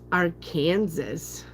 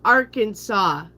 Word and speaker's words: Arkansas: Anyway, so I went through that bank and they're like, "What's our Kansas?" And I'm like, "It's a state, is it?" And I said, "And it's pronounced Arkansas.